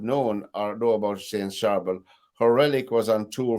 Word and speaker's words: Charbel: my hands up who I was uh saint charbel am I saying it correctly no it is